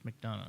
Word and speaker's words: McDonough: I believe it's McDonough. How do you spell it? And McDonough makes sense. Yeah. McDonoughugh. Yeah. Yeah, and he's you gotta know how to say these Irish names. Yeah, it's McDonough.